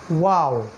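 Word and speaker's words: واو: তারপরে তৃতীয় লেটার যেটা ঠোঁটের সাথে সম্পৃক্ত সেটা হলো ওয়াও। এটা উচ্চারণ করতে গেলে মুখটাকে একটু রাউন্ড করতে হবে, গোল করতে হবে, ওয়াও, ঠিক এরকম।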